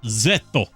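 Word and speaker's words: ゼット: on foreign words uh it's pronounced zetto so the Japanese name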